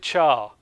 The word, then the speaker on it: char: And even I can never decide how to, is it car or is it char? Right? Like the English word would be char, but it's short for character. Yeah. So sometimes I'll say char, sometimes I'll say car, sometimes like Americans say car, which sounds horrible to me.